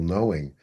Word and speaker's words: knowing: It's dynamic of that blossoming of that, what you call knowing, but it's knowing with a capital K. Excuse us. Interesting how in our English language, the K is silent.